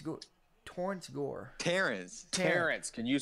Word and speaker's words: Terrence: Do you guys like the addition of Torrance Gore? Terrence. Can you say Terrence? Terrence, god dang. Torrance. Did I spell it wrong or Torrance.